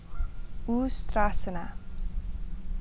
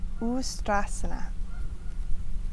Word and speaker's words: Ustrasana: Ustrasana. Ustra meaning camel. Ustrasana.